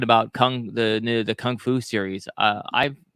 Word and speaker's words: kung fu: will definitely talk about kung fu or gung fu uh if you pronounce it the right way uh probably and adam